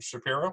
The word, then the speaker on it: Shapiro: Talking with Shapiro. Is that how you say it? Shapiro? I actually say it with a long I, Oh, yeah. Shapiro.